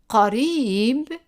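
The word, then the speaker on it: قريب: Qarib, again we have the Q, the qaf, the Q pronounced in the back of the throat.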